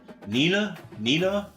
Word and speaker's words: Neenah: Here is the 24th player on the list, a right tackle, Brian Durante from Neenah, Wisconsin. Am I pronouncing that right, Logan? Neenah.